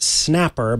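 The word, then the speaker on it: Xnapper: the website that says read like Snapper I'm like okay I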